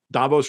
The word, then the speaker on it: Davos: Like Davos rhymes with Thanos, and you saw what that got him.